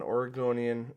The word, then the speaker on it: Oregonian: Lynn was never an Oregonian, and yes, that's how you say it.